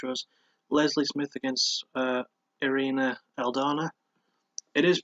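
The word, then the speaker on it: Irene Aldana: prelim fight which was Leslie Smith against uh arena aldana it is pronounced arena even though it's spelled arguing she's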